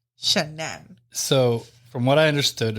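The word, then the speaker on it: Shanann: wife Shannon shannan shannan let me make it clear it's not Shannon shanan so from what I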